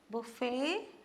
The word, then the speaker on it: buffet: of these two words buffet and alakat these two are words from French language and it's very commonly used uh in English Buffet is uh see the t is silent okay Buffet that's what